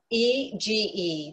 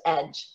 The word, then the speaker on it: EGE: it to your device e g e this is what some people call us but it's actually pronounced edge which stands for engineered